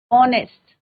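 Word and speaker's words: honest: ओ का प्रोनाउंसिएशन हो रहा है, ओ का साउंड आ रहा है, ऑनेस्ट।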